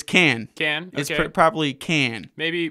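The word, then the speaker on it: Kann: we had brought in Alec can or is it Alec Khan oh it's can can it probably can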